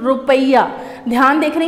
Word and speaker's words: rupiah: तो इंडोनेशिया की जो कैपिटल है वो है जकार्ता, और इसकी करेंसी है रुपया। ध्यान देख रहे हैं, रुपी नहीं, रुपया ऐसे प्रोनाउंशिएट करते हैं, RUPIAH, रुपया।